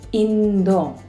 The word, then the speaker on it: 인도: Oh, why Russia is Russia while India is pronounced as 인도 differently.